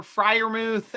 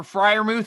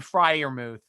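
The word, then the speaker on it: Freiermuth: can all pronounce because who knows how you do it fry like fly thank you i thought i was doing fryer move yeah drunk bastard [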